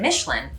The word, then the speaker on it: Michelin: basically in this word one of the big differences is the end of it with that n sound so the way that we would say it in the us you would put a lot of enunciation on the n then the french would say that they're pronouncing the n